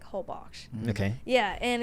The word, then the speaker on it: Holbox: So Americans say Holbox, but I think it's pronounced like Holbox.